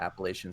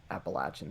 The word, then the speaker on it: Appalachia: Yeah, Appalachian State. I'll use this opportunity to practice my chops saying Appalachia. That's how you say it, depending on where you live.